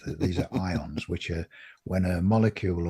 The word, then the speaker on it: ions: And this is, from an electrical point of view, they're ions, which is spelled IONS, not the type of stuff you iron your shirt with. These are ions, which are when a